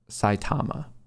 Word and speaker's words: Saitama: Matt, it's pronounced Saitama.